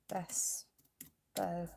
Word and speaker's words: Bespoke: It's spelled Bespo, pronounced Bespo.